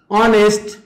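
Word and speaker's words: honest: हाम्रो के त भन्दाखेरि अगाडिपट्टि याच साइलेंट जस्तै अनर आवर अनेस्ट अनरेबल यी सबै चाहिँ हाम्रो प्रोनाउन्सिएसन गरौँ त एकचोटि अनर एच साइलेन्ट भयो आवर एच साइलेन्ट भयो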